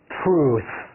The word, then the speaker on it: truth: 要舌头卷一下。Tell， tell， truth， truth，最后咬舌。Truth，好了